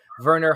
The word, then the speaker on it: Werner: item is from Ripley's Werner hartle I think that's how that's pronounced that name Verner w-e-r-n-e-r Verner hartel creates beautiful paintings